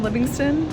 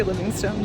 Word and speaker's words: Livingstone: Just got off the plane in Livingston. That's how they say it. I would say Livingstone.